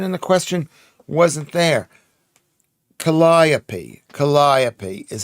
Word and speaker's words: Calliope: Calliope is how it's pronounced.